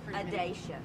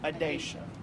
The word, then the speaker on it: Adacia: How does she pronounce her name? Adacia. Adacia.